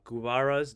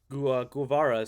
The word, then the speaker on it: Guevara: was created by uh gubara's diary about a motorcycle trip when he and alberto grando had and how it changed our lives uh guevara sorry i pronounced that wrong he was a he